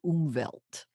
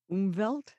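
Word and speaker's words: Umwelt: and the word is umelt umelt it's German yeah it's spelled u m wlt so it's always going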